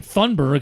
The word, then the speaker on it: Thunberg: gonna butcher her name thundberg I think it's how you say it um but there's no R right there Greta thurnberg kinda yes